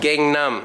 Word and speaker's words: Gangnam: How do you say that? Gangnam style. Gangnam. I knew I was saying it wrong.